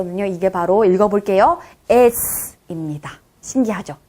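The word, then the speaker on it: С: 저씨 그런데 러시아에서 음료 이게 바로 읽어 볼게요 s 입니다 신기하죠 에 네 시 옷에 가까운 발음이 납니다 시 옷보다는 요 쌍씩 옷에 가까운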